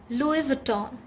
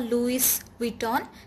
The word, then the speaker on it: Louis Vuitton: names with you so number one is louis vuitton louis vuitton it's not louis vuitton or louis vuitton it's louis vuitton number two is chanel